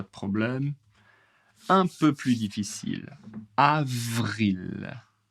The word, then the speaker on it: avril: Avril avril. V ici ça bouge, ça tremble un peu. Avril beaucoup d'air.